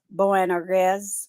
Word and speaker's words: Boanerges: And now I looked the word up and I listened to the pronunciation. Boanerges, or Sons of Thunder.